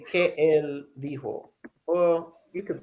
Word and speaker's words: dijo: the J in Spanish Okay. has an H sound, right?